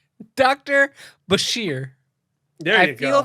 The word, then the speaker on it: Bashir: stuff they did with Brazier being sort of the like Brazier. How do you say his name now? Dr. Brazier. Dr. Brazier. I feel like he. Brazier? Let me be very clear. Bashir.